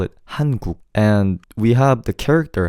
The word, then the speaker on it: 한국: Oh, the way to pronounce Korea in Korean is 한국, and 국 is a word for country.